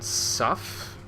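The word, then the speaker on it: sough: Rhymes with tough. So Sylvan Suff, basically.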